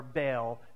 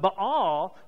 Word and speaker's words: Baal: to worship her god, who was Baal, or Baal, depending on how you say it and which Hebrew professor you had. But Baal was the god of